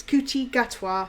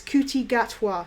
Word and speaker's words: Ncuti Gatwa: we are drawing i i had to find out how to pronounce his name it's cootie gatwa so if you don't know how to pronounce it you're reading it going is the end silent is the q is this c silent i don't say it's kuti gatwa so if you're looking